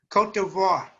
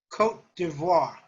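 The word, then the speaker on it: Côte d'Ivoire: let it be or portuguese does can anyone pronounce that beautifully cote d'ivoire who is that michael clements okay say it again cote d'ivoire cultiva also known as ivory coast thank you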